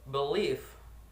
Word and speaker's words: believe: The next that is believe, and the syllable stress that is believe. Believe. You can hear it in the second part.